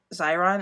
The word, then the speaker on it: Xyron: it is if you just search Zeron it's it's x/y are a oh not that's not I spell it it's X Y R oh in that's the brand of